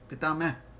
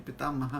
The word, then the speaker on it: पितामह: पंजाब हरियाणा की तरह, तो वहां पर वो बोलेंगे पितामह है, पितामह हो जाता है कभी कभी। ऐसे नहीं कि हर पंजाबी ऐसे ही बोलेगा। पितामह, क्योंकि पितामह है संस्कृत उच्चारण।